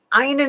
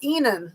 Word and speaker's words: Einen: Einen is pronounced Enan.